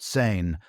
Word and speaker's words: Samhain: Seine, pronounced sane, marked the transition from the light half of the year to the dark half.